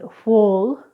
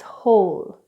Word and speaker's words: whole: And last but not least is the Silent W which we find in such words as whole or sword so we don't pronounce it wuh-ole its whole we don't pronounce it's sword its sword.